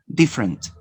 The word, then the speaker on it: different: You have 3 syllables, 3 vowels. Now you omit the vowel which is unstressed. Different, different, different, different. Notice you omit one vowel sound.